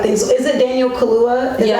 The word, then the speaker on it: Kaluuya: So is it Daniel Kaluuya?